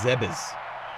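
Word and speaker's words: Zebes: so zebbs is pronounced zebis weird I guess that's like the Japanese pronunciation the game was made in Japan Japan Japan he what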